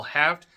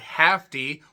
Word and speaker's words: Haft: They did talk about promoter Al Haft, not Hafty.